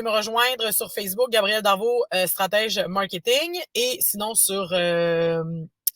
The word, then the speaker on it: Darveau: Darvaux, ça s'écrit D-A-R-V-E-A-U, soit dit en passant.